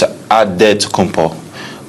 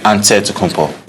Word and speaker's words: Antetokounmpo: The Nigerian way, you gotta say with a D, so it's Antetokounmpo. But in the Greek way, you say with the NT, like Antetokounmpo.